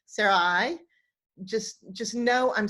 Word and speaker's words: Sarai: world pronouncing Sarai's name it ought to be pronounced suraíh and the eye on the end has this